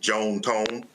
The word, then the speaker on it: John Tom: Uh, they were southern from Mississippi, so they pronounced it Joan Tone, but uh, yes, John Tom is his first and middle name.